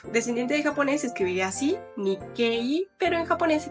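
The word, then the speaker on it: 日系: que es que también si viene una I después se alarga el sonido de la e por ejemplo descendiente de japonés escribiría así ni quei pero en japonés se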